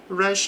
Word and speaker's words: rush: During rush hour, então durante a hora do, no português falamos a hora do rush, mas no inglês o r inicial das palavras ele é vibrante, então é rush, rush hour.